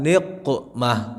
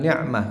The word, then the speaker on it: niqmah: Ilahi la ilahi salimil ummah minal afati wan niqmah, bukan ni'mah.